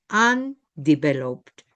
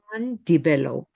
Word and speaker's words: undeveloped: Undeveloped. La U se pronuncia como una a, ¿se fijan? Undevelopedo.